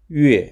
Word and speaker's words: 月: The closest approximation to the pronunciation of 月, is the first syllable of Yukon, which is a Canadian territory located near Alaska.